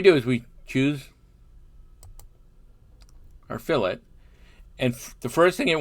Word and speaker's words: fillet: spelled the same way at least as in autocad it's pronounced fill it no french here it rounds the edge